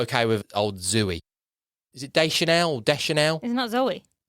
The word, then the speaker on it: Zooey: But did you know her name was spelled with two O's? No, I did not. So is that make... So is it Zooey? Zooey. Oh. So it's like Zoe. Zooey. Zoe. Yeah, well, however you want